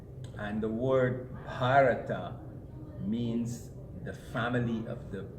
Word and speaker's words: Bharat: And the word Bharata means the family of the Bharats. The man's name is Bharat with an A sound, but his children or family are called Bharat.